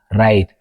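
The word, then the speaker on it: write: ዘለተር W ሩል 1 W is silent in words that begins with WR ብ-WR ዝጅምሩ ቃላት W ሳይለንት ይኸውን ንኣብነት ራፕ ራይት ሮንግ ሪንክል ወዘተ ዝብሉ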